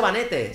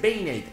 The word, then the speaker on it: Banette: porque la gente dirá No se dice vanete se dice binate ya lo sé pero